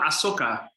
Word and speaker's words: Asuka: have got that right there's a character in star wars called ahsoka tano and i think it's spelled the same and it sounds the same yes you're right okay